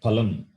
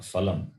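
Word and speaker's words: फलम्: This letter it is Pa only. We say Palam, Drishta Palam, Adrishta Palam. It is not Phalam or Phal.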